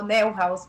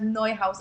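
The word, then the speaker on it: Neuhaus: Eh, nosotros en Ecuador lo pronunciamos como Neo Houseous, pero el nombre correcto es Noe House.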